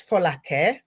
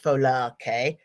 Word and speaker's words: Folake: Now, her name is Folake, and I better pronounce it properly because I am Nigerian. I won't do the English. Folake. Her name is Folake.